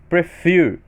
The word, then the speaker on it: prefer: Na palavra prefer, eu tenho duas sílabas, porém fear é a minha sílaba tônica, minha sílaba mais forte.